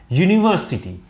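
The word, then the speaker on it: university: अगर यू की जगह ये आ होता तो हम लोग एन लगा देते, लेकिन इसका जो प्रोनाउंसिएशन है वो है यूनिवर्सिटी।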